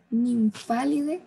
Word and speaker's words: Nymphalidae: vamos a ver que el PH se va a pronunciar como una F y el AE es una E. Entonces diríamos Rhodinidae, Nymphalidae como una F, Pieridae y Papilionidae.